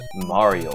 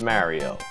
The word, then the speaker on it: Mario: with Wang time again today we're gonna play mario brothers to notice they said mario brothers to and not mario boats to cuz i cannot stand when people call it mario his name isn't mario it's